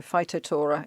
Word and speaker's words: Phytophthora: Phyto, and then it's Phthora, and I think Phth is usually pronounced T, isn't it? Just T. So Phytophthora infestans.